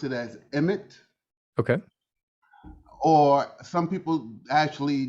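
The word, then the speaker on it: Aemeth: significance to you um okay so i will pronounce it as emmet okay or some people actually draw it out and say amet h is science silent so it's not a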